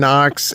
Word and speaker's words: Knox: K's real name is Knox according to the frce pronunciation noox is um does not have a k so that's why I